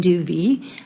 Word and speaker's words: Duvey: name is dr duvey almost got it right rhymes with groovy and i serve um